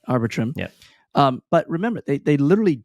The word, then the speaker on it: Arbitrum: Anyone know how to pronounce it? Arbitrum, right? Arbitrum.